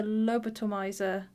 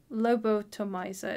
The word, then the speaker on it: Lobotomizer: two mana two two the lobitomizer lobotomizer is how you say it lobotomizer that is